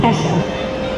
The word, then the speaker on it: Kesha: Did I pronounce it right? I did. I had to ask. It's Kesha.